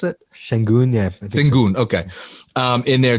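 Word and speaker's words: Şengün: And I guess if you want to throw Sengun, is that the way to pronounce it? Sengun, yeah.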